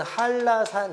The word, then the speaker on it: 한라산: 그래서 저희가 옛날에 예를 들어 봤던 게 한라산, 요게 발음이 이루어지게 되면 니은이 뒤에 나오는 리을의 영향을 받아서 유음화돼서 리을로 바뀌니까 발음은 한라산 이렇게 가는 거죠.